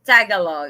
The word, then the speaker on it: Tagalog: I pronounce same as your husband. Yeah, I said Tagalog. And that's how he pronounced it's Tagalog.